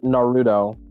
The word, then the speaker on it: Naruto: It's pronounced Naruto.